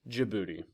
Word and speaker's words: Djibouti: I've said it before in class yes it's pronounced Djibouti about the size of Massachusetts it was once